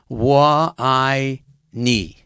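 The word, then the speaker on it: 我爱你: It's it's, you have to remember, Wa I Ni.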